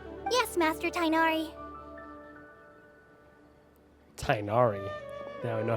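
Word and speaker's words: Tighnari: Tainari. Now I know how to pronounce his name as well.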